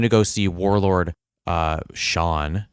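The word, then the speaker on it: Xian: go see warlord uh Shawn Shane they pronounce it Shawn though and Shane yeah but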